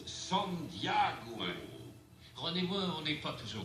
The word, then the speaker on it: San Diego: aujourd'hui qu'à menacer personne san diego en réalité ça se prononce son diagou rendez vous n'est pas